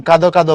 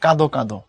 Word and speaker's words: কাঁদো কাঁদো: তো দ্বিরুক্ত হয়ে গেলে তখন কাঁদো কাঁদো বলা যায় না, তখন বলতে হয় কাঁদো কাঁদো। আমি তো তার কাঁদো কাঁদো চেহারা দেখে মন খারাপ করে ফেলেছি, বা তার জন্য মায়া লাগছে, কাঁদো কাঁদো বা কাঁদ কাঁদ বলা যাবে না, বলতে হবে কাঁদো কাঁদো।